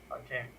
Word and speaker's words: calcaneus: Calcaneus? Calcaneus, yes, calcaneus.